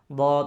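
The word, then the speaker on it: ض: কিন্তু ভুল, মাখরাজ বা সঠিকভাবে আদায় হয় নাই, দদ হবে না।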